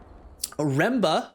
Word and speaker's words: Remba: Remba, not Roomba, I'll say his name correctly once again.